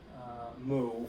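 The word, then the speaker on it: μ: This letter, Mu, the lowercase incarnation of it, looks something like a stylized U shape, but it's pronounced Mu.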